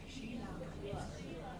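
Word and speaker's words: Shelagh: Sheila, way out back there. It's spelled S-H-E-L-A-G-H. Sheila.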